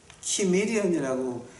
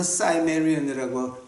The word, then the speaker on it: 키메리안: 이제 메데하고 시메리안이라고 하는 사람들이 있는데, 그 시메리안 이제 우리가 그 헬라어 계통에서는 키미리안이라고 이제 발음을 하고요. 어떤 다른 나라 랭귀지를 보게 되면 사이메리안이라고 발음하는 나라도 있어요.